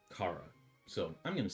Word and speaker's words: Chara: and the Heart Locket which uh belonged to Cara. I guess her name or that that the first child's name is pronounced Cara. At least that's how I hear everyone. I I was saying Charara.